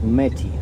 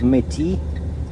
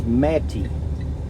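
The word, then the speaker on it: Metis: I thought it was Metty because it's spelled M-E-T-I-S. I thought it was French. Turns out it's Native American, and it's Metty with a stress on the first syllable.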